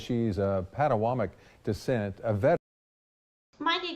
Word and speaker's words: Potawatomi: Brittany Jones says she's of Potawatomi descent, a veteran. Mind you guys, it's Potomac.